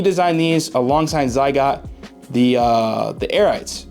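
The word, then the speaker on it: Arete: Fresh is a really dope guy, and so he designed these alongside Zygot, the Airites. I think that's how you pronounce it, Airite, A-R-E-T-E.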